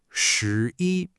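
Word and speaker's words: 十一: And what you get is shi, pronounced shi.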